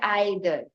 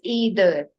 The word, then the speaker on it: either: You do not pronounce it as either. The correct pronunciation and the modern pronunciation and the impressive pronunciation of this word is either.